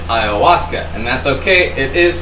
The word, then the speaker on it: Ayahuasca: will talk about taking Ayah Huska which I hope I said that right but that's a plant-based psychedelic she did not it's Ayahuasca and that's okay it